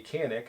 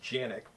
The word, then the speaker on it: Canik: design features with the canik and i'm sure i'm pronouncing that wrong i believe it's actually pronounced janic pistols that are made